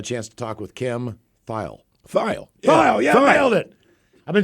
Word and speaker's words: Thayil: Everyone said Thayil. And then I saw something with him, and he said, hi, it's Kim Thayil. Yeah. And I almost wanted to tell him, I think you're saying her name wrong, boss.